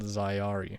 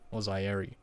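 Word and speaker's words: Zaeyari: what's it called ah this is called zayari ozairi it's z-a-e-y-a-r-i so zayari's hyeri however you want to pronounce it doesn't really matter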